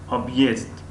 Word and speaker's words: объезд: خب объезд طرز تلفظش объезд یعنی د با پرگی د تلفظ نمی شود، مثل اینکه در زبان